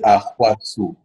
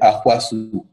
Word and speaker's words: Ahouassou: La bonne prononciation, c'est Oui. Ahwasu. Waouh. Ahwasu. C'est en plusieurs temps donc. Oui, c'est en plusieurs temps, mais si je te le fais court, c'est Ahwasu.